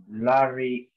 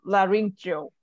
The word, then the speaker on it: laryngeal: Laryngeal. So this one is, so the E-A-L is pronounced as ill. So laryngeal. Laryngeal.